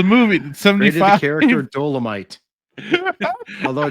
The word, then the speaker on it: Dolemite: Valerians ran weapons-grade dolomite to the Cardassian forces during the occupation of Bajor.